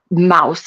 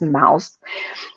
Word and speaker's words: Mauss: her name is Iris Mauss, I believe is how you pronounce it. It's spelled Mauss, so I believe it's Mouse.